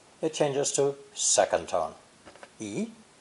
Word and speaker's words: 一: For instance, when counting has a first tone, yi. But before first and second tone characters, it uses fourth tone, yi.